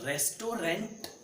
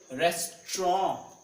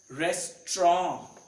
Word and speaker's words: restaurant: इट इज नॉट रेस्टोरेंट. इट इज नॉट रेस्टोरेंट. इट इज रेस्टोरेंट. Restaurant.